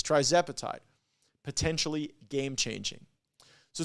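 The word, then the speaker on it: tirzepatide: to get this tire how do you say guys try zapatide that's what that's what the team says try zapatide potentially game changing so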